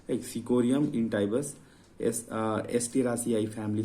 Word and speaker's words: chicory: तो मैंने फिर गूगल किया, फिर देखा कि यह इसमें ओ साइलेंट रहता है तो इसको सिक्री बोलते हैं, ठीक है, सिक्री, राइट। तो आप इसको कई लोग सिकोरी चिकोरी भी बोल देते हैं, सिकोरी भी बोल देते हैं।